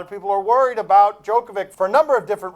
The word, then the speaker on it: Djokovic: Djokovic is how he pronounces his name.